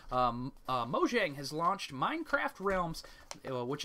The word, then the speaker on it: Mojang: Mojang has launched Minecraft Realms, which is a subscription service in North America, and this offers hosting and setup for Minecraft multiplayer worlds.